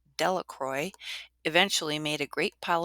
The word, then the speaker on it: Delacroix: jones and dicky delacroix the villagers pronounced his name delacroix eventually made a great